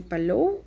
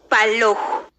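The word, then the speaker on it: palow: Pero aprendamos a decir mar, se dice palou, y hay un mar, ¿cómo se dice? Eco Palou. Eco Palou. ¿Se recuerdan que la W al final es como una F, verdad? Palou, como WF.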